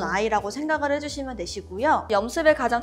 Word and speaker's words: 염습: 그래서 원래는 습염이라고 불렀는데 발음하기가 조금 어려워서 염습이라고 하고 있어요.